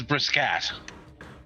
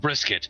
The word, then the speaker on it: Brisket: gonna feel like idiots my last name is brisk at well then it's common commonly mispronounced brisket I make it easier